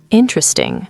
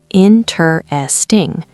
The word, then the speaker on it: interesting: Interesting. 4 syllables on paper. Interesting. But we say interesting. 3.